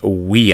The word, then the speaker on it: via: course in English but in Latin that V would be pronounced a w so that would be we uh all right and